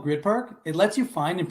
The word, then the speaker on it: Gryd Park: blocks from the arena the grid park app yep it's spelled gryd park and you know what